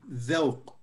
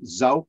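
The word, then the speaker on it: ذوق: Dhawq. Dhawq. The. It's like TH actually, but it's translated DH here.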